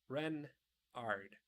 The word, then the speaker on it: Renard: my official name is King Renard IV Renard and Accent on the ren what's what's Ren asked